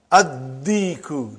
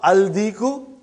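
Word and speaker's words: الديك: And when you will pronounce them with Alif Lam, you will not pronounce Lam. Okay, look at this, brother. Come to number 3 and go down. Come to number 3 and go down. Addiku, not aldiku.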